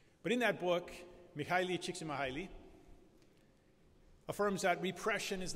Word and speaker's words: Csikszentmihalyi: has this name that's kind of difficult to pronounce, his first name is Micheli, and his last name is Csikszentmihalyi. It's actually Mihaly Csikszentmihalyi is his full name.